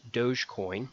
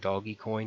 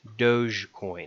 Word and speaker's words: Dogecoin: basics first of all it's pronounced dogecoin it's not doggy coin it's not dog coin it's not any kind of variation it's dogecoin a little odd if